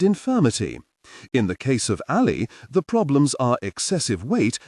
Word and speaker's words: Alli: A great example is Alli, pronounced Alli, a drug to aid weight loss.